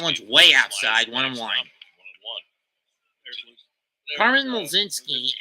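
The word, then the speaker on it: Mlodzinski: Carmen Mlzinski is Numbers, silent L and a silent D. Mlzinski. Silent C too. Just pretend there's a J in there somewhere.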